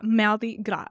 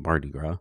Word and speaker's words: Mardi Gras: right well I'm sorry are you asking about the pronunciation yeah yeah maldi gra is that's how you say it French yeah but we just call it Migra right yeah because most people can't say it that way I can't even